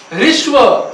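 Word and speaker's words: ह्रस्व: ऋस्व, हस्व नहीं, ऋस्व, ह के अंदर री है, ऋस्व स्वर।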